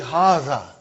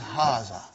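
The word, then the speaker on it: هذا: See, it is pronounced like Haza. But this alif is not written. It is explained in the key also. So it is Haza.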